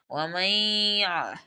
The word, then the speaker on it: ومن يعمل: গিয়ে কিন্তু ইয়াকে ধরবে এখানে কিন্তু নুনটা উচ্চারণ হবে না ওয়ামাইয়া আইন এভাবে উচ্চারণ আইন